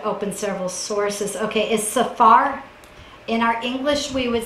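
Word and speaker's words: saphar: several sources okay is Safar in our English we would spell it s-a-p-h-a-r we do pronounce it kind of like you just heard saw and far and I like that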